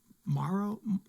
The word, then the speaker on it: Maro: ax just chopping uh Maro Maro Maro Maro like marrow in your bone that's how you pronounce it it's spell different yeah